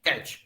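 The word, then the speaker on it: catch: उसी तरह से अगर आप कैच बोलते हैं, कैच, यहाँ पर टी आपका साइलेंट है।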